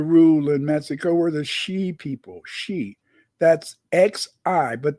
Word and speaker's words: Xi: in Mexico were the shei people shei that's XI but the x in Spanish is pronounced like a sh sh so it's she